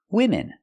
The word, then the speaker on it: women: use the plural form women so in singular form woman one woman and in the plural form women women use a short I sound like this is for both syllables women women so it's